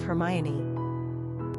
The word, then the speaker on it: Hermione: Pronunciation, Hermione. Simple meaning, the interpreter. Characteristics of Hermione.